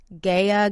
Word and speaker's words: Gaia: the brand Gaia herbs I hope I'm pronouncing it right it's spelled GA I a gaya Gaia herbs it's oil of oregano